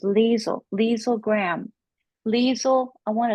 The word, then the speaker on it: Liezel: the wonderful leisel Graham I was pronouncing it lizelle until you told me it was leel leel Graham leel I